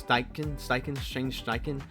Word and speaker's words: Steichen: Steve Steichen, is how you pronounce Steichen.